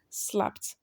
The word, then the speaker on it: slapped: So slap ends with p, p, voiceless. So it's going to be pronounced as what? Slapped.